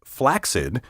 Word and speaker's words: flaccid: correct you ask because the rule for pronouncing double c in a word says that the first c sounds like k the second like s together they create the sound of k s as in the name